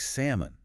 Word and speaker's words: salmon: Once you know the L is silent, you'll never forget it. Salmon.